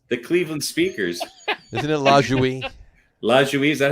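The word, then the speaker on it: Lajoie: Isn't it LaJouie? LaJouie, is that how you say it? LaJouie, yeah.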